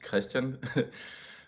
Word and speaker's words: Kristian: My name is Kristian, in Danish pronounced Christian.